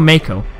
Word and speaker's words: Mako: the freaking marker reactors say Marco or Mako I keep calling Marco because I tell you because that's how it's spelled anyway missions by the